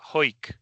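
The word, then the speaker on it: Hawick: And you know over time pronunciation changes and it's become ho right.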